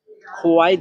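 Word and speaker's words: 活: তারপরে হুয়া, হুয়া, এই শব্দটাতে চাইনিজের 2 নাম্বার টোন ব্যবহার করা হয়েছে। 2 নাম্বার টোন উচ্চারণের নিয়ম হচ্ছে নিচ থেকে উপরে। এই শব্দটা উচ্চারণ করার সময় নিচ থেকে উপর দিকে উঠবে।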